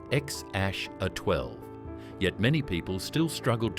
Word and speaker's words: X Æ A-12: Musk and Grimes later clarified that the name was pronounced X aash A12.